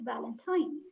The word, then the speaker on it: Valentine: e being pronounced and the same is with Valentine the E is not there so it's Valentine and that's it right